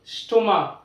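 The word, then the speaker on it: stomach: School, chemistry, CH দিয়ে start, chemistry, chemical, স্টোমাক। তো এরকম কিছু শব্দ রয়েছে যেখানে সিএইচ কয়ের উচ্চারণ হয়, সেই শব্দগুলোকে আমাদের মুখস্থ করে মনে রাখতে হবে।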